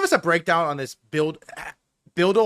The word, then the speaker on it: BUIDL: So, can you give us a breakdown on this build build? How do I pronounce it, dude?